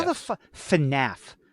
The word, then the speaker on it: FNAF: FNAF. FNAF.